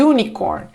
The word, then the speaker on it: unicorn: u e é vogal só que ele não começa com som de vogal na pronúncia a gente como começa como se fosse um Y Unicorn e vai ser a